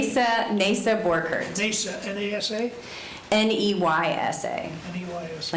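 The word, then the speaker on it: Neysa: Nasa Borkert, NASA, N-A-S-A? N-E-Y-S-A. N-E-Y-S-A. Like neigh, like a horse.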